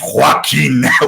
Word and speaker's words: Joaquin: Joaquin you flippin idiot it's a Spanish name Joaquin seriously you think that's how it's pronounced if you really must know it's watching it's much much better